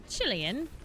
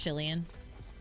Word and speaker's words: Chilean: Is it Chilean? How do you say it? As in Chile. So Chilean. Chilean. I don't like that. It's Chilean.